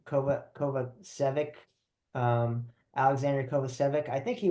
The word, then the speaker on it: Kovacevic: It's Kovacevic. That's how I say his name, and he's American, so we should learn it for sure.